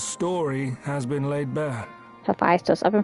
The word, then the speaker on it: Hephaestus: Hephaestus. I've been pronouncing it wrong this entire time.